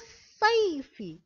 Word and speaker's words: الصيف: هل قرأنا الألف واللام؟ لا، لم نقرأ ألف واللام، قلنا مباشرة فصل الصيف، لم نقرأ الألف واللام. إذن هنا لم ننطق بحرف اللام في الألف واللام للتعريف، وأيضا ركزنا على الشدة.